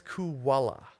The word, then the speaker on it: Kujala: Fucking Miss Kuwala. Cool. But it was spelled like Kujala.